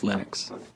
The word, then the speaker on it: Linux: But Linux is always Linux.